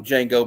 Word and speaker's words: Django: Yeah, the D is silent in Django.